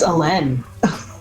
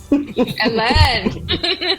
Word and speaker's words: Elin: Do we say Elin or Ellen? How dare you get my name wrong? It's Elin. Ellen. Ellen. Make sure you put the accent on it.